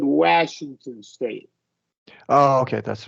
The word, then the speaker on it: Washington: A is like a kind of a, yeah, not After a lax. W, yeah, W, yeah. it is lax. Washington. After Washington, yeah. After Yeah, the W, Washington.